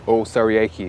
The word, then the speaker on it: Osariehi: Osariehi is full pronunciation, but yeah, Osas.